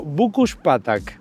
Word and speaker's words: Bükkös patak: está lo que sería el río bukus patak Así es como se pronuncia en húngaro pero que no sabes